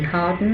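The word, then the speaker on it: Hawarden: lived in a castle which is spelled h-a-w-a-r-d-n and I don't know how to pronounce probably Harden I suppose um now when he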